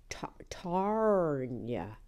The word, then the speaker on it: Tarnia: "It's Tarnia, T-A-R-N-I-A, Tarnia.